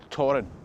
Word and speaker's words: Thorfinn: Now, the high point of that Arcadian Norse power in the area was under Torrin Sigurdsson, Torrin the Mighty, spelled Thorfinn, but I'm assured it's pronounced Torrin.